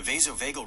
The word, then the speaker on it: vasovagal: vassel vagel Does it even know the vasovagal response or synopy is the most common type of fainting syncopy.